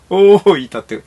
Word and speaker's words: 大分: えもうわかんねおおいたっていたって読むんだはいなん